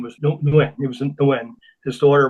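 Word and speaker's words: Nguyen: Could you pronounce that for me that you uh his last name was Nuen?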